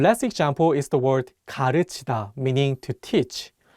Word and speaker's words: 가르치다: One last example is the word 가르치다, meaning to teach. One more time, it's not pronounced 가르치다, but 가르치다. Again, this vowel 으 is much wider than the vowel 우.